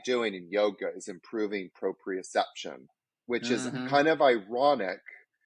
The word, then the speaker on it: proprioception: to you might have to remind me probe proprioception yeah you said you said it right yeah